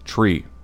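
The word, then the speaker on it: three: 3, pronounced phonetically, is tree, like the thing with fucking leaves on it.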